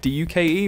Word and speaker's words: Duke: But the first word is like D-U-K-E rather than J-U-K-E. So it's like Duke. I am the Duke.